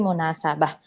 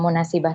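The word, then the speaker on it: مناسبة: Sekali lagi munasabah. Banyak umahat yang masih ketukar sering bacanya munasibah tapi munasabah.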